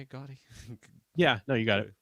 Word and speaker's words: Gotti: Is that how you say it, Gotti?